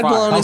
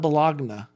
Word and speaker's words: bologna: It's spelled bologna. I mean, you know what I'm saying? I'm just a random thought. Levi, what's the origin? It's Bologna. Not bologna. It's Bologna.